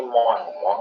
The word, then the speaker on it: moins: Sama untuk yang pengucapan dari kurang sendiri itu artinya ini moang ya artinya kurang ya.